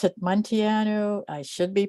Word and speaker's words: Munteanu: That's pronounced, well, I pronounce it Munteanu. I should be pronouncing it Munteanu, but then I'd have to move my hands to say it.